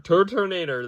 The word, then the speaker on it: Turtonator: Turtonator, Turtonator, Turtonator, that is definitely how you say it.